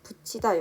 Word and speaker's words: 붙이다: 두 번째 예시인 붙이다 역시 붙이다가 아닌 붙이다 라고 발음이 되고 있습니다.